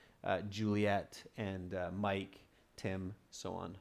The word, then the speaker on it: Juliet: Like Romeo and Juliet. This is the English spelling, but we do use the French spelling as well. So if you spell it in the French way, like this, they'll take that because we use that in English also, okay? So with a stronger T sound, Juliet.